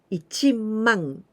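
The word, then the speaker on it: 一万: it's quite easy but you must know that 10 000 we don't say sen we never say like that because this is the one the new unit ichimong 10 000 it is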